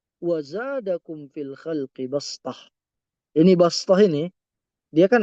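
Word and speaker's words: بصطة: Ini bastah ini dia kan ada huruf sin di atasnya. Jadi kita bacanya itu dengan makhraj sin basth, bukan shad ya.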